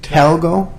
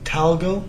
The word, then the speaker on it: Talgo: like 79 or something like that can you pronounce that you said talgo talgo t-a-l-g-o I think yeah this is and this